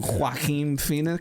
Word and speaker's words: Joaquin Phoenix: Joaquin Phoenix. Is that how you pronounce his name?